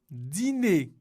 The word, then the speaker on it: dîner: Dîner, c'est la même chose.